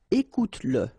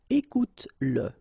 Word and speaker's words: écoute-le: Remember that if you've got, in some situations, the pronoun le, and if it comes after your verb, like in that case, then you will have to pronounce it. Okay, so regarde-le, regarde-le, all right, regarde-le, écoute-le, okay, écoute-le, so here you pronounce it, and then finis-le, okay,